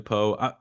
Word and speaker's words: Poe: to give Julia a follow at by Julia po it's it's pronounced po correct yes yeah just want to make sure